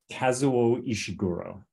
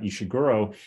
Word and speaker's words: Ishiguro: your podcast how do you say his name ishiguro have you do you haven't interviewed him right have you tried yes yeah and well so I'm I'm finishing a book about him it's about just about ishiguro and as part of the proposal for the